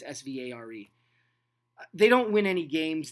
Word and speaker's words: Svare: I don't even know how to say his name. It's Svare.